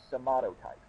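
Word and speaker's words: somatotype: in the consideration is your somato type that's how to pronounce it somato type and and I don't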